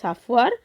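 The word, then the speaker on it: chauffeur: বা 18 যাই হোক এর উচ্চারণটা হবে সাফার সাফার এখানে উচ্চারণটা সাফুয়ার সাফার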